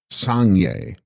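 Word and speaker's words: Sangs-rgyas: The text contains Tib Sangs Rigas, pronounced Sangye, Sanskrit Buddha.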